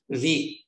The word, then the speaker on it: Vite: Vite rhymes with beat.